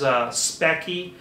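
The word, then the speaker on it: Speccy: Another one is Specky, that's spelled S-P-E-C-C-Y, will report your RAM speed as well.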